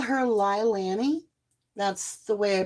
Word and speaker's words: Leilani: And I call her Leilani. That's the way I pronounce her name.